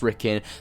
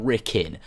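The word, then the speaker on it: Rikkin: next Assassin's Creed game and it is pronounced ricking cuz it was actually confirmed by Amar on this Q&A it is pronounced ricking 100 it's confirmed it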